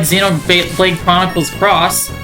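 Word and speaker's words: Xenoblade Chronicles X: Also, the X is pronounced cross.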